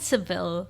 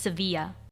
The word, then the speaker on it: Sevilla: so it's yeah it's it's called seville in english in english at seville and then in spanish it's sevilla yeah so for future